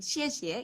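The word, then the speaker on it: 谢: Untuk katanya sudah benar xie. Nah, kita balik lagi pada ton tadi, pada shengtiao tadi. Xie itu ada pada ton yang keempat.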